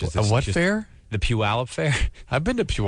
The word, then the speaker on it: Puyallup: she know I'm sure they were great and puyallup is a wonderful town and I'm the fact that I'm able to pronounce it correctly is how ate me yeah